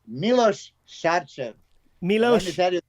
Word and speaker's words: Milos Sarcev: Yes, sorry, we had a little discussion about how to pronounce names, didn't we, Milos? Yes. So it's Milos Sarcev.